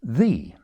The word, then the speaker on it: ye: signs like ye old yeie sweetie shopy where the y is actually a simplified thorn in effect a th. So the y on those signs shouldn't be pronounced as ye but as the the old sweet shop.